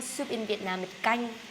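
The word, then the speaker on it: canh: different countries we call soup in Vietnam it gang c a n h that's how you spell that soup it gang this one I order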